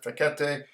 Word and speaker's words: Fekete: This comes to us from Professor Antal Fekete. Some people pronounce it Fekete, a Hungarian economist that I have a lot